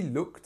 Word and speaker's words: look: with the word come because come is uh like up and look is like book okay so to look